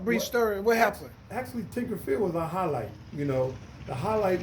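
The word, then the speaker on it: Tinker Field: the once upon a time used to be Tinkerfield, as I'm saying it right?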